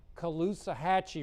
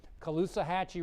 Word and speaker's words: Caloosahatchee: let's see if I can say it right callus caloosahatchee River that's it caloosahatchee river right there in Fort Myers there's a